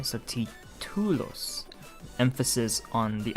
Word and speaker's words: títulos: Títulos. There's an accent on the I, so títulos.